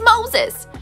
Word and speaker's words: Moses: It rhymes with roses, toeses. Did you guess it? It's Moses!